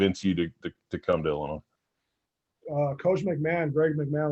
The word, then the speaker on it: Illinois: yeah i'm going to illinois and they're and they're like what i was like i'm going the other was like no the s is silent so i got off